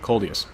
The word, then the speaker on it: Coldius: I've definitely been looking forward to this in the Object 140, and Coldius, that's how you say it, Coldius.